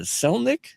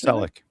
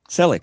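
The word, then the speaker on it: Selick: Henry uh uh Selnic, I pronounce Celich. Celic, thank you. Celic, I always put an N in there.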